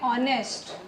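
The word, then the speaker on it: honest: जैसे दूसरा वर्ड है ऑनेस्ट एच ओ एन ई एस टी सो एच is silent and that is वई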